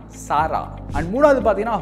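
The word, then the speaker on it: Zara: பட் வந்து இது ஒரு ஸ்பானிஷ் கம்பெனி. ஸோ அவங்க ஸ்பானிஷில் எப்படி சொல்லுவாங்கன்னு பார்த்தீங்கன்னா சாரா.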